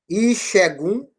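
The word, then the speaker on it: Ìṣẹ́gun: Porque o S sinalizado embaixo, ele vai dar a pronúncia do X que não existe no Urubá, certo?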